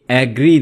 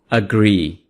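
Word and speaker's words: agree: यह एग्री नहीं है। इसको आप पढ़ेंगे। अग्री।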